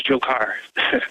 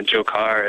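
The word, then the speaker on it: Dzhokhar: is fleeing right now, his name is Jokar. The DZH sound. I'm having a difficult time pronouncing that name, but we'll go with that pronunciation. Go ahead, sir. Yeah. So if you just, plug it into like Google Translate or that sort of thing, it totally makes the J sound and the Jokar.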